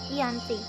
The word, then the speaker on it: Giyanti: Dalam pelafalan Belanda yakni Ianti, sedangkan dalam tertulis terbaca Giyanti. Lokasi tersebut sekarang dikenal dengan Dukuh Kerten, Janti Harjo, Karanganyar, Jawa Tengah. Pada masa lampau, perjanjian Giyanti ini dibuat untuk meredam